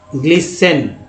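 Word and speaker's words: glisten: next देखिए यहाँ पर जो है टी के बाद ई आया तो भी जो इसे ग्लिसन, ग्लिसन पढ़ेंगे, जैसे लिस्टन आप पढ़ रहे थे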